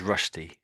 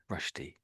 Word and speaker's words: Rushdie: It's normally pronounced as Rashi. Rashi.